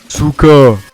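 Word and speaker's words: сука: Souka. Et oui, Souka, bah oui, je l'ai déjà dit dans la première vidéo, ça compte pas. Souka signifie pute, hein. Bah oui, pute. Souka. Cette injure se prononce souka et se traduit ainsi par chienne.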